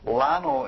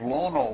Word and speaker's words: Lono: Thank you to Tim last that time for pointing out that I was saying lano instead of lono which is the proper pronunciation and he did it so gently that there's absolutely no hurt in it all.